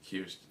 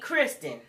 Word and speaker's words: Kirsten: he called her Kirsten it's Kirsten and it ain't Kristen uh her bridesmaid said it